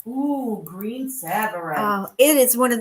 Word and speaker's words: Tsavorite: And we're going to get green Tsavorite.